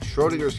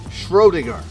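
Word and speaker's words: Schrödinger: probably need a key or something all right Schrodinger's cat there's a book on top of the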